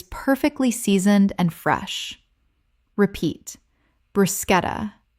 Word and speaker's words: bruschetta: Word 28, bruschetta. Common mispronunciation, brushetta. Correct pronunciation, bruschetta. The CH makes a K sound in Italian, and this word kept its Italian pronunciation in English.